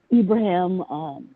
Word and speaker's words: Ibrahim: It's actually Ibrahim. the Arab for Abraham. Mufasa. Did you say Mufasa? I am. Nick, spell that.